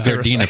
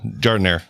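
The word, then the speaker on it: giardiniera: Is that how you pronounce it? That was Gardena peppers. No, Jardiniere.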